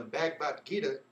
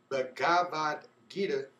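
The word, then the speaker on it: Bhagavad Gita: Oppenheimer later recalled that while witnessing the explosion, he thought a verse from the Hindu holy book, the Bagbad Gita, or let me pronounce that right, the Bavad Gita.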